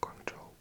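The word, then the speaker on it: 广州: But in Mandarin, you pronounce it Guangzhou.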